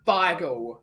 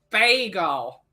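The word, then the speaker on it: beigel: message Catman it's ble it's ble absolutely it's pronounced ble not Bagel it's ble b a g b e i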